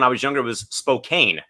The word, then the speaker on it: Spokane: I thought when I was younger it was Spokane. It's actually pronounced Spokane.